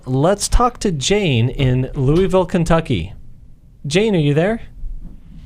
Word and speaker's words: Louisville: I always say Louisville, Kentucky, but y'all say it different. How do you? It's like with marbles in your mouth. How do you say it? I'm a transplant, but it said Louisville.